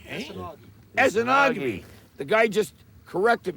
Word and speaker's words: Esnagi: How do you pronounce this lake? Esgami. Esogi. Esenogamy. The guy just corrected me. Esenogamy.